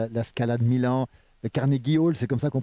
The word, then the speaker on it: Carnegie Hall: scènes du monde, la Scala de Milan, le Carnegie Hall, c'est comme ça qu'on prononce à New York? Oui, Carnegie Hall.